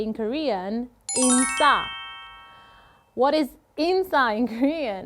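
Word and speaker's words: 인싸: What is insa in Korean? It's actually a short word for insider, but in Korean pronunciation, so it goes like insa.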